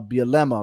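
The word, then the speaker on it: Bielema: saying this right Lance Leopold and Brett uh bilemma right is that how you say it yeah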